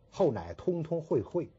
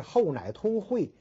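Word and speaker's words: 后乃通会: 不能念成后乃通通会会，这是不可以的。他是后乃通会，然后通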